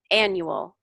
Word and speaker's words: annual: The stress on a different part of the syllable. So I just wanted you to hear annual, appreciate, history, governor, contributed, where the stress goes on those words.